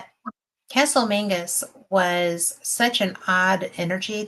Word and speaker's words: Menzies: But because it's spelled Menzies, Yeah. but it's Mingus, Castle Mingus.